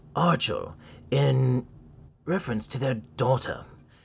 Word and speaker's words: Archel: So, fun fact, this is not the Archel 2 Pro. It is actually pronounced Archel in reference to their daughter. So, yes, most of us have been saying this wrong. It's not Archel, it's Archel.